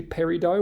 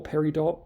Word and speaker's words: peridot: So it contains gem quality olivine, which is essentially peridot or peridot, choose your preferred pronunciation.